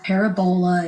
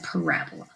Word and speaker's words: parabola: It's not a parabola, it's a parabola. That's how you say it.